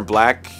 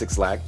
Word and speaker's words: 6LACK: genre forward Atlanta singer black and it's not pronounced sixl had early Beginnings as